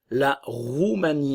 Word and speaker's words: Roumanie: La Roumanie, attention, OU, le son OU, le E ne se prononce pas. La Roumanie.